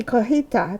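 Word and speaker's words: cotija: And then some cojita cheese, and I kept the label so you could see cojita. That's how you pronounce it, and that's what it looks like.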